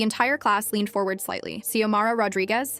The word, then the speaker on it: Xiomara: Xiomara Rodriguez? She pronounced it perfectly. C-O-Mah-Ra, clear as a bell.